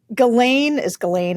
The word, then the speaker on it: Ghislaine: And obviously for those of us who are interested in the truth about all this, the Ghislaine is exactly how you pronounce it.